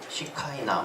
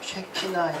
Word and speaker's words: 셰키나: 시카이나 혹은 뭐 셰카이나라고 하고 원어는 셰키나에 좀 가까운 발음이래요.